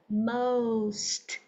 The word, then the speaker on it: most: m xong rồi s vô nè most most Ok không most rồi bữa sau mình